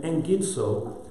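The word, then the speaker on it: ἐγγίζω: In engidso, whenever you have a double gamma, double G, it's always like an E-N-G. It's pronounced eng.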